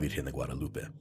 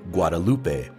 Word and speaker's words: Guadalupe: the Caribbean island of Guadalupe in her honor no I I think I think it's pronounced guadaloop yeah you know what I've